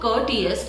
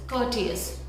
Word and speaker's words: courteous: In this word, R is silent. So it's not courteous, it's courteous.